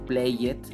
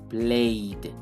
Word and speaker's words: played: le agregamos Ed pero no vamos a decir Play it sino played la agos la d